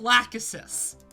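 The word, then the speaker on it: Lachesis: i'm sorry what yeah it's pronounced lack assist i love that i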